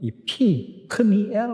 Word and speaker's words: 프니엘: 우리말 번역에 주로 버하고 비로 이렇게 되어 있는데 히브리어 발음을 보면 이 프니엘 하는 게 더 정확해요.